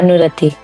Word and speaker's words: Anurati: Um, your name pronunciation is it Anorati? Yeah, Anurati. Anor and O. It's a oo.